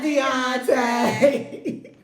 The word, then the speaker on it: Deontay: Everybody say, "Bye, Deontay." "Bye, Deontay." You gotta say it like that.